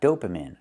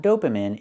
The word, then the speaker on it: dopamine: It's not dopamine. It's dopamine. I have to use the long e sound like green beans. Dopamine is the correct pronunciation.